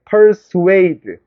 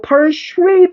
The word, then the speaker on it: persuade: persuade. 요거 persuade 아니야, 이거. persuade라고 발음하는 거야.